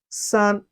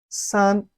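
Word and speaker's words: 四: chinese is pronounced as sun repeat after me sun is very easy and simple for in chinese is pronounced as su repeat after me su it has a falling tone of chinese language the following tone which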